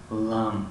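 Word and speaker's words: lamb: یعنی اگر همین حرفی B بعد از حرفی M آید، در این حالت تلفظ کرده نمیشود، مثل کلمه لام گوسفند.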